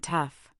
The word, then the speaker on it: tough: But it stubbornly makes an sound in words like laugh, enough, and tough.